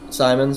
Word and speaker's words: Simons: a really good move for Anthony Simons or Simmons. I can't remember how you pronounce his last name, but Simons. Simons.